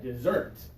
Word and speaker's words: dessert: that is dessert okay for this one we're going to put a little accent mark out here because we want the second syllable to be extra strong okay dessert okay dessert is delicious